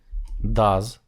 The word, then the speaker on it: does: чи вивчає він англійській does читається з Z does Hey Learn English